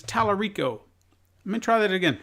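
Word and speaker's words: Tallarico: I see Tommy ring I say I see talaq REO but it's Talarico I'm in try that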